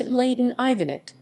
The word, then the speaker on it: Ivanić: and laden ivanic serbian cyrillic m laden ivanich pronounced leyden ivanit born 16 september 1958 is a bosnian serb